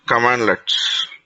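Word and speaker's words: cmdlet: Okay, so not only Azure PowerShell, PowerShell will have generally we'll be writing it as okay, which are pronounced as commandlets.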